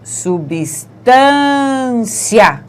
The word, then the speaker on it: substância: Veja que na melancia a gente diz melancia. Em substância, a gente diz substância. Então, esse IA é pronunciado junto, vamos dizer assim. O I e o A ficam na mesma sílaba.